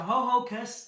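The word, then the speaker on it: Ho-Ho-Kus: pronounced ho hocus, but it sounds like someone trying to say hocus pocus or something.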